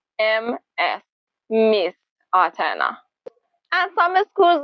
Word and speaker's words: Ms.: It sounds the same as M-I-S-S, but it's spelled Ms., Miss Atena.